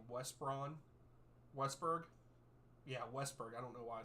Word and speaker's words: Westberg: you say his name West Braun Westberg yeah Westberg I don't know why I said West Brom